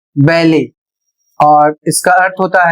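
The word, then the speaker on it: ballet: अगला शब्द है बी A double L ई टी जो फ्रेंच भाषा से आया हुआ है और इसे पढ़ा जाएगा बैले और इसका अर्थ होता है एक शास्त्रीय नृत्य शैली।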